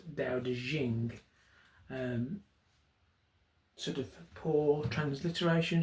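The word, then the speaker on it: Dao De Jing: which I have a copy of here the da de jing as it's pronounced um it doesn't transliterate particularly well into English um as it was translated um it looks like it should say teo ting but is actually pronounced da de jing um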